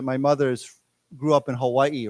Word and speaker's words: Hawaii: mother's grew up in Hawaii right so if you live in Hawaii the proper way to say Hawaii is you pronounce the second I separately right many of my